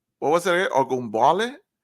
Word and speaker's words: Ogunbowale: You mentioned you pronounced the running back's name. What was it? Ogunbowale? Ogunbowale, yeah.